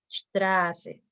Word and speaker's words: Straße: Con respecto a la letra S, la vocal que antepone a esta letra se transforma en una vocal larga, como es el caso de la palabra Straße. Straße.